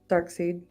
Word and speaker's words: Darkseid: Darkseid. Okay. Yeah, I used to pronounce it Darkseid too, but I realized it's Darkseid, and that's correct, Darkseid.